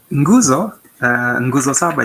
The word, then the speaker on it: nguzo saba: Well, nguzo saba, yes, it's familiar, but the pronunciation is the one that draws laughs from me, So it's putting the N and then.